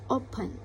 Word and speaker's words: open: So, untuk mengidentifikasi open itu kalian bisa tekankan, kalian bisa pronunciation lagi. Open. Open. Jadi menurut saya jadi penekanan katanya itu ada di open. O ya, ada di O-nya.